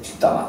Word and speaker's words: 뒷담화: 근데 뒷담화인데 우리나라 발음은 이 저 담아. 그러니까 담아가 돼. 뒷담아. 하는 거 맞은 거.